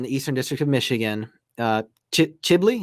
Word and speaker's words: Chebli: So this case with the N400 in the Eastern District of Michigan, Chebli, is that how it's pronounced? Chebli. Chebli. Okay.